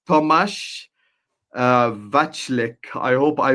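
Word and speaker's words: Tomáš: It's not Thomas, it's Tomas Vachlik. I hope I pronounced that one right.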